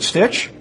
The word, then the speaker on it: Stitch: for hotel Diablo Rich how do you say your last name is it Stitch yes that's correct man all right great